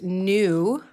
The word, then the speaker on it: knew: and find the word new the word new has a silent K in front of it